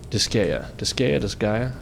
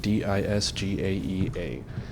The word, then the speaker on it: Disgaea: That's right, Disgaea, however you want to pronounce it, Disgaea.